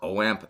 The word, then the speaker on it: OAMP: to the 29 pedals WAMP, which is how I believe you're supposed to pronounce it, or OAMP, as a lot of other people pronounce it as well, but I believe it's WAMP.